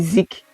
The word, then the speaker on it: Zeke: So I said, since it's pronounced Zeke from Ezekiel, it might confuse people if you don't try to spell it. Like, okay, if you just say Zeke, you will just go Z-I-C or Z-I-K. You will not go Z-E-K-E.